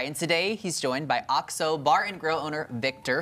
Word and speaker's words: OXO: So the name is pronounced OXO, one word.